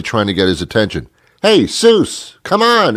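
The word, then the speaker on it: Jesús: and his name was hey soos and hey soos in your little South American country is Jesus but they don't pronounce the J as a J's is they do it as an H so he was hey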